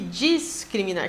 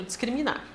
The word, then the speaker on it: descriminar: foi aceito tá bem vamos ao discriminar e descriminar que no final das contas a gente acaba pronunciando do mesmo jeito descriminar discriminar pessoal e nós